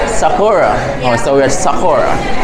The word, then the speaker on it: Sakura: How you pronounce the place? Sakura. Sakura.